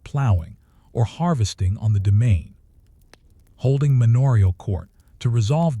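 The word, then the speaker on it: demesne: The domain pronounced domain, land reserved for the lord's use.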